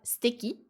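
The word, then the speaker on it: すてき: Et l'adjectif suteki, donc qui se prononce en général steki.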